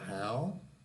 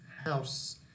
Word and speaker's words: house: A small, So here we have, again, two kinds of pronunciation. We have how, a small how, or a small house. So of course, here this one is wrong. We have an S, so the final sound is S, house.